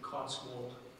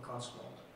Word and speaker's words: Cotswold: Let me give you another pronunciation. Cotswold or Cotswold.